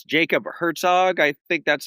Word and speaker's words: Hartog: We have with us it's Jacob Herzog. I think that's how it's pronounced. Hartog is right.